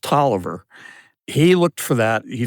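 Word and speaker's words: Taliaferro: A F E R R O, but it's pronounced Toiver.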